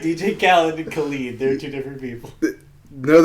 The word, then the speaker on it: Khalid: I just heard something recently where somebody was pronouncing his name Khaled, and it made me so mad. I was like, no, it's Khalid. He is Khalid.